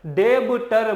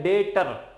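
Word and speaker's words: debtor: डेबटर मत पढ़ना, इसे बी साइलेंट होता है, इसे पढ़ते हैं डेटर।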